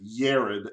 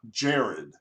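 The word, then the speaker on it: Yared: you may be thinking why i said yarid and not jared um you know because in hebrew there is no j sound it the j's are pronounced like a y um so the names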